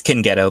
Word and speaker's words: Cingeto: Am I pronouncing that right? It's Cingeto, but yeah.